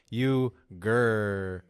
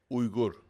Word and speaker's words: Uygur: So my dad, when we first came here, changed it to Uygur, like just the pronunciation, the spelling's the same.